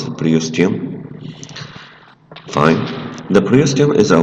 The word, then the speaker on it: periosteum: The long bone surface is covered by a tough membrane called periosteum if you like, we pronounce it periosteum.